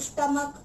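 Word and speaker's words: stomach: ध्यान से सुनिएगा, जिनका अंत तो सी एच होता है लेकिन उच्चारण के किया जाता है, प्रोनाउंसिएशन के किया जाता है। जैसे कि स्टमक, मोनार्क, तो ये जो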